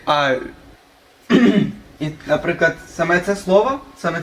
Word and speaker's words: ui: і букви і отримуємо Воно читається як А І наприклад саме це слово